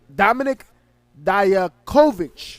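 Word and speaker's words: Dominik Dijakovic: the week for sure oh yeah see classic Dominic Dyer Kovac right that's how you say it versus chiefly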